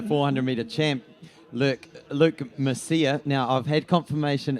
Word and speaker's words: Mercieca: now i've had confirmation it's not it's luke mercier so not like luke that i've been saying all summer long luke mercier there's sort of a c that you pronounce and then the second see it's silent yeah he trains um